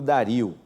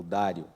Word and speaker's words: Dario: Ciro foi sucedido por Dario, ou Dário, depende da pronúncia aí, que é o rei persa que é mencionado pelos profetas Ageu e Zacarias.